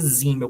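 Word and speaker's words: Simmel: Zimmel, que é um outro clássico, a gente pronuncia Zimmel como se fosse um Z.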